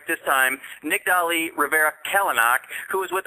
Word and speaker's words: Nicdali: I'd like to welcome her to the show Nick Deli how you doing tonight I'm doing good and you pronounced it right I'm so happy yeah me